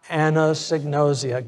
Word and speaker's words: Anosognosia: Anosognosia.